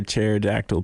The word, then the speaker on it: pterodactyl: Matt, why can't you hear a pterodactyl P? Why? Because the P is silent.